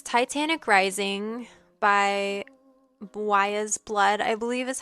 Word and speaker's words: Weyes Blood: And it's Titanic Rising by Wa's Blood, I believe is how you pronounce it. Wise Blood.